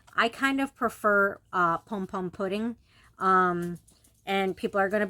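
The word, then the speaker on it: Pompompurin: so um so no it's not pom pom purin it's just spelled that way in Japanese that's how it's spelled but it is pom pom pudding and he is a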